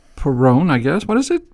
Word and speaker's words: Perron: uh we have a returning guest uh Keith perin who uh is actually pronounced Peron I guess what is it Peron Peron yeah in English I'm I'm like a bad